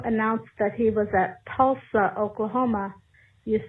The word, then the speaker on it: Tulsa: but you know I I know that it's pronounced Tulsa Oklahoma but just to get us back to the days of the Democratic primary I've been having a good time calling it tool stuff but I know that it's Tulsa I appreciate